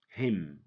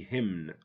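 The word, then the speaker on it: hymn: column don't say column him don't say him him know him without the N why because when n comes after M the N is silent it has no sound it makes no sound it's not pronounce it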